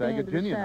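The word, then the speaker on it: Agajanian: And he can pronounce his name, his last name. Oh, it's Agaginian.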